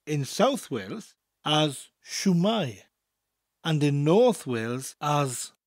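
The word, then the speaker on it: shwmae: way of saying hello imagine that I am holding a shoe a shoe that I have just taken off my foot it's my shoe my shoe it's not your shoe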